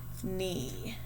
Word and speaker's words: knee: will code number 16 knee we're going to underline our kn ghost digraph and mark off our k here we have our